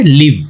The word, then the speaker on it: live: इसको क्या प्रोनाउंस करेंगे, लिव। अब देखो यहाँ पे ये पहले जैसे एग्जांपल की तरह यूज कर रहा है, लिव लिव, लेकिन प्रोनाउंसिएशन अलग है, एक लाइव हो गया और एक लिव हो गया।